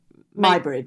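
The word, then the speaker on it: Muybridge: Um um how do you pronounce it? M my bridge.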